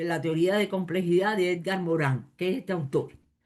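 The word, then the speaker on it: Morin: teoría de complejidad de Edgar Morán, que es este autor, o Edgar Moro, si lo quieren pronunciar así en en español.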